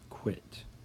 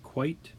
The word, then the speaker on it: quit: at the end okay we have the UI short I quit it's not quite it's not quiet it's quit here is quite right over